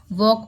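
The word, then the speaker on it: walk: तो वेडनेसडे में डी है, साइन में जी है, कॉम में बी है, नाइफ में के है, नाइफ पढ़ते हैं, वॉक में एल है, आवर में एच साइलेंट है।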